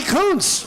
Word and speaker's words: Kuntz: Johnny Kuntz, that's right, that was not a mispronunciation.